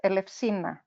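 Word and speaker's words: Ελευσίνα: Eleusina, Eleusina, that's how we say it. Eleusina. Eleusina and Eleusinia Mysteries. Eleusinia Mysteries. So there's an emphasis on the first syllable there.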